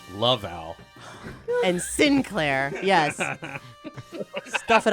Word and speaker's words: Laval: It's pronounced Laval.